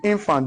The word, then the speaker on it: infant: When you mention a noun of two syllables, the stress must fall on the left syllable. So the infant, the in has stress. The f must not receive stress.